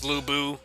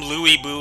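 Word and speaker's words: Lü Bu: like Zilong, Ryofu is Lubu, and stuff like that. Kong Ming is Zhuge Liang. That's just kind of easier. It's easier to pronounce, and then it's consistent. I heard they call him Louis Boo in this game.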